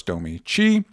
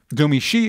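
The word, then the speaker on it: Domee Shi: it was directed by domi she and written by sarah streeker hopefully pronounce that correct julia cho and of course domici domi she excuse me and it is about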